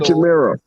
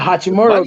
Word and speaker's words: Hachimura: Hachimura.